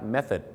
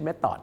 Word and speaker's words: method: method นั่น เอง ครับ method ไม่ ใช่ metod ครับ ต่อ ไป นะ ครับ